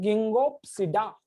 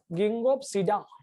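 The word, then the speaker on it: Ginkgopsida: साइकेडोप्सिडा के बाद गिंगोप्सिडा नाम का एक क्लास है, गिंगो बायोलोबा, यहाँ पे के साइलेंट रखता हूं मैं, गिंगोप्सिडा, गिंगोप्सिडा।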